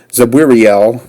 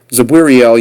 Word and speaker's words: Zabwiriel: And these are why these names are so difficult to pronounce, is because there's no vowels in between them, and you kind of have to make them up as you go along, because it's just really impossible to pronounce them otherwise without having something in between, like a vowel.